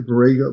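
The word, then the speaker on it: Borrego: Burggo. Burggo Springs. Yes. B O R R E G O. And then springs. Brago Springs, California.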